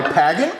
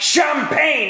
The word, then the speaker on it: champagne: while you pour my pagging. Take the glass from me, Chives! Sorry, sir. We need to get your brain skinned, you old fuck! Well, you know it's pronounced champagne and not pagging.